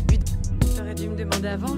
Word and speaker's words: Budapest: Budapest? Ouais, Budapest. Non, ça se prononce Budapest.